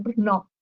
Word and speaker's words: Brno: Esta es la casa eh que estamos hablando recién en BR eh en Brno, en realidad está muy pronunciado, Brnó.